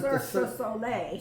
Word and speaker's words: Cirque du Soleil: parking lot, and that was how do you pronounce it? Cirque du Soleil.